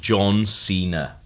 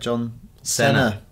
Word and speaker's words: John Cena: It's pronounced John Cena." Yeah. What was going on? Yeah, it is. What was happening? I don't know why Chris did that. What did he do? He said John Cena.